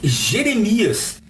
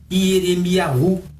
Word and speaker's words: Jeremias: Assim falamos Jeremias e não Ieremiahu, que era o nome dele em hebraico.